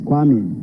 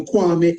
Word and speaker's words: Kwame: My own name is Kwame, but in pronunciation, it becomes corrected to Kwame, as you have in Kwame Nkrumah.